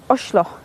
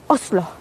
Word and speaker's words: Oslo: I get it wrong, but Oslo is actually pronounced Oshlo, which kind of killed me a little bit. And apparently, if you're a posh wanker, you say Oslo.